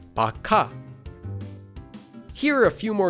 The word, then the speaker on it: 박하: For another example, take the word 박하, which means peppermint. The first syllable ends in the base consonant, kiok, and is followed by a hyut, so it becomes a kiok. This becomes pronounced as bakha.